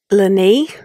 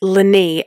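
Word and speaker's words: leanaí: I think it's Lani, and it means children. It's Lani, and I'll put it up on screen and I'll also spell it for you guys on Spotify. It's L-E-A-N-A-I with a fodder. Lani, which means children.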